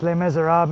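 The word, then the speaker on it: Les Misérables: really good story it's spelled Les Mes it's pronounced Le mesab in French Victor Hugo wrote The Hunchback of Notre down and uh L miserab is just a beautiful story Hugh Jackman's in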